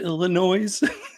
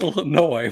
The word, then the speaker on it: Illinois: Drac says, oh, have you ever been to Illinois? And I'm like, Drac, you know it's pronounced Illinois.